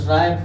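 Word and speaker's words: write: जैसे देखिए डब्लू आर ओ एन जी का हो जाएगा रॉन्ग हो जाएगा, से राइट हो जाएगा, राइट हो जाएगा, रिस्ट हो जाएगा। एक्स वाई जेड साइलेंट नहीं होता है, एक्स वाई जेड साइलेंट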